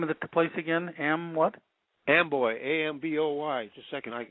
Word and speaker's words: Amboy: Amboy, A-M-B-O-Y. Just a second. I got to get my glasses here. Can you read that label? Is that 772? P.O. Box 772, Amboy, Washington.